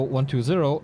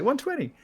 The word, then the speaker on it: 120: this game when did you decide to call 1 2 0 1 2 0 instead of 120 like in the very past